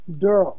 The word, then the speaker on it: Daryl: No matter how it's spelt, it's pronounced Durrell.